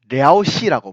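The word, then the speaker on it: 遼西: 랴오허강을 기준으로 하여 서쪽 지역을 요서, 중국 발음으로는 랴오시라고 부르고요.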